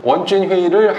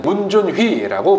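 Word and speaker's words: 文俊辉: 캐치프레이즈는 조용한 미남, 별명은 준휘, 준이, 원준휘를 한국식 발음으로 하면은 문준휘라고 부릅니다.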